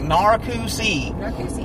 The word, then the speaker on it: Narcoossee: sounds uh just like it looks it's like narokusi yeah yeah there's a there's a funny Tick